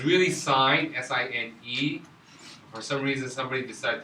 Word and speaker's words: sine: It's this thing called sine. Okay? So now we see that it's sin. We say it's sin. I won't consider it a sin. But it's really sine.